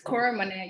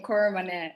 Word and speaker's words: Koromone: I pronounce my name properly. It's Koromone. You said it a bit fearful. It's just one name, Koromone.